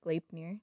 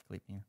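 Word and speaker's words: Gleipnir: Yeah, it's pronounced Glapnir. Glapnir.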